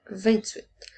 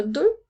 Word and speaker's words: deux: maintenant avec le chiffre 2 qui s'écrit 2 attention le son eux s'écrit e U et X le X est en lettres muette rappelle-toi aussi qu'à partir